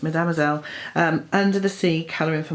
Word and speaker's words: Mesdemoiselles: Then I've got Mademoiselle's Mesdemoiselles, that's how it's pronounced, Mesdemoiselles, Under the Sea, Colouring for Mindfulness.